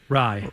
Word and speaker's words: Rai: What's the guy's How do you pronounce the guy's name that won it? Rai.